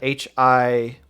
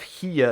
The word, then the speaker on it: Hiyah: It is spelled Hiyah. I believe it is pronounced Hiya.